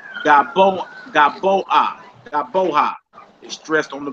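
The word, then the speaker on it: גָּבֹהַּ: And the next one says Gaboa.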